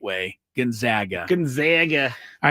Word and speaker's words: Gonzaga: At Gonzaga, Kevin Sampson at Gonzaga. Thank you for getting what I was saying. Yeah, Kelvin Sampson, who loves to pronounce it the right way, Gonzaga.